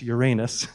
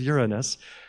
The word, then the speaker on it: Uranus: I believe he discovered the planet Uranus not pronounced alas Uranus it really is Uranus but that made him a living and in